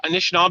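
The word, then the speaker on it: Anishinaabe: Um and so it's anishab. Is that is that pronounced correct Lee? Yeah, Anishnab is my people.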